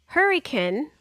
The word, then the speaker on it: Hurricane: West Virginia which is close to hurriken uh which is spelled hurricane but pronounced hurun isn't